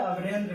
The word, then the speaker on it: अमरेंद्र: तो अमरेंद्र, तो अमरेंद्र का जब उच्चारण करिएगा तो अम, उसके बाद कुछ देर विराम लेगा, उसके बाद रेंद्र बोलेगा।